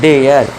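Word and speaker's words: dare: इसी तरह डी ए आर इ डरे नहीं डेयर केयर शेयर mayor डेयर डरे मत करना।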